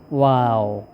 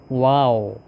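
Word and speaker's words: واو: এটা হচ্ছে ওয়াও। আমরা অনেক সময় আশ্চর্যজনক বা কোন ধরনের সৌন্দর্য দেখে কি বলি? ওয়াও। ওইরকম এর উচ্চারণটাও বলতে হবে। এরকম ওয়াও।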